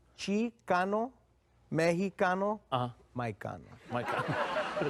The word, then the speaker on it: Cano: It is Cano. Cano. People say cannoli because they don't know whether I'm Italian or what, but I'm Latino, man. Mike, are you? Chicano, Mexicano, Mike Cano. Mike Cano.